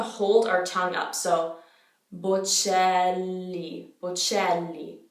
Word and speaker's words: Bocelli: So most people know that that C becomes a ch sound in Italian. So it's not Bocelli, it's Bocelli. Bocelli. There is a double L in this name. So the double consonant needs to be pronounced.